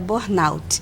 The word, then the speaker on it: burnout: Então, não é fechado burnout, que parece francês, né? Isso, a pronúncia correta é burnout, né? Que vem do inglês.